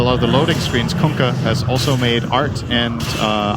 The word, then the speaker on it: Kunkka: Did you hear the way Tide yelled it? That's how you pronounce it. You're welcome. Kunkka.